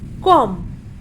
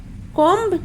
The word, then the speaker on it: comb: फॉर an example, जैसे कि COMB, यहाँ पर बी मौजूद तो है लेकिन हमें बी का उच्चारण नहीं करना है। सो we will pronunciate कॉम। कॉम्ब नहीं बोलेंगे, अक्सर लोग कॉम भी बोलते हैं, but this is wrong pronunciation. तो right pronunciation will be कॉम।